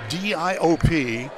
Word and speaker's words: Diop: Now, if you see number 32 wearing the white uniform, that is Saliu Diop, D-I-O-P, pronounced Diop, 6'10", and a freshman from Africa, from Senegal.